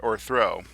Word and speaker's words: o'erthrow: This is a common poetic technique that you can actually see in action with the word o'erthrow, which turns overthrow into a two-syllable word.